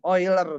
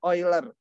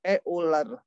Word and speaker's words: Euler: itu dinamakan bilangan ini oiler bacanya olr kau Indonesia mungkin heuler nge-rap Saya mau lihat